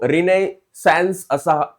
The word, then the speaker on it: Renaissance: तो देखिए, period of रिनेसेंस, okay, इसको रिनेसेंस ऐसे भी हम प्रोनाउंस कर सकते हैं।